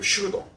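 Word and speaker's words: pseudo: 단어가 아 이게 지금 예 잠깐만 이게 영어가 슈도 이게 이게 영어의 슈도가 여기 그 그리스 슈에서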